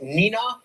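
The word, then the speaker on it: Neenah: who watches the show on wluk is it pronounced Nina yes that's great excellent all right you know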